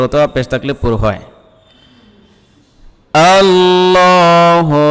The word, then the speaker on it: আল্লাহ: রাজিম বিসমিল্লাহি রাহমানির রাহিম আল্লাহু লা ইলাহা আল্লাহু লা ইলাহা আল্লাহ এই যে লফজে আল্লাহ রয়েছে আল্লাহ শব্দ এর লামটা পুর হবে কারণ তার পূর্বে জবর অথবা পেশ থাকলে পুর হয় আল্লাহু লা ইলাহা লা তিন